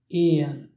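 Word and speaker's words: éan: Pour dire le mot oiseau, en irlandais se dit Ian. Ian.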